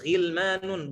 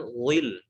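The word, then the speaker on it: غلمان: Ghilmanun, kita baca ghilmanun, bukan ghil. Wa yatufu alaihim ghilmanun mukhalladun. Bukan wa yatufu alaihim ghilmanun lahum. Wa yatufu alaihim ghil, bukan seperti itu. Bukan ghil, tapi ghilmanun.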